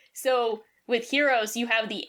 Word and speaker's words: HxEros: They say heroes, but I think the X is silent because one of the